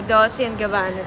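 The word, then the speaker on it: Dolce & Gabbana: Yung tamang pronunciation. Oh, Dolce and Gabbana daw.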